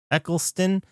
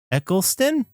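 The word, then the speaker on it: Eccleston: Eckleston. Eckleston. Eckle. That's not how that's spelled.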